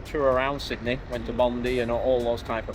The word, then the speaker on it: Bondi: Bondi, I'm sure what you say, Bondi. Locals say Bondi.